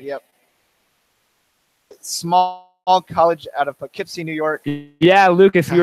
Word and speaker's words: Poughkeepsie: I can't quite pronounce. It's a lot of letters for a shorter name. Poughkeepsie, yeah.